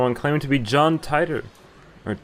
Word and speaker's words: Titor: claiming to be John Titor or Teeter my John Peters back I think it's actually pronounced tighter in the show so gent I repeat